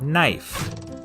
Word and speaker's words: knife: is in the word knife in Middle English it was pronounced knef but after The Vowel Shift the K became silent and the E turned